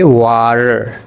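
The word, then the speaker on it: water: जैसा कि वाटर तो वाटर में आप टी की दोनों तरफ देखो गौर से तो यहां ए लिखा है और यहां ई लिखा हुआ है। इस टी के दोनों जानिब ई है और ए है यानी वॉल है। तो इस टी को हम अड़े की आवाज़ देंगे। कैसे देंगे? वाटर से हम कहेंगे वार।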